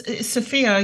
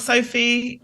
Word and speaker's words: Sophia: pronouncing that correct it is sopia right it's sopia you're one of the only to pronounce it the right way the first time you're doing that you're doing great it's not Sophie it's not Sophia it's Sophia Sophia wonderful thank